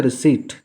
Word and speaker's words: receipt: तो रसीद का स्पेलिंग होता है रिसीट। ध्यान रखेंगे, फिर दोबारा मैं बतला रहा हूँ, इसमें पी साइलेंट होता है।